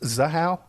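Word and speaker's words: Zahau: uh so this um uh Rebecca and it's pronounced zaha zaha yes zaha okay so what would be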